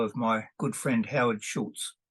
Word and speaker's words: Schulze: attended the funeral of my good friend Howard Schultz schultzy is the proper pronunciation s-c-h-u-l-z-e Howard was a friend of mine